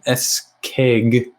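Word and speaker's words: Escayg: __ ] crazy name sean s keg that's how i pronounce that's how you would say it okay writer he's the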